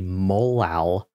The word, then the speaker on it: molal: So whenever we have a 1M, this is referred to as a molal, which is how you pronounce that.